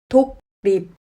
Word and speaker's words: 독립: 독립. 받침이 기역이고 뒤에 리을이 왔습니다. 받침 기역은 그로 발음합니다. 하지만 리을은 르로 발음하지 않고 느로 발음합니다. 독립은 독립으로 발음합니다.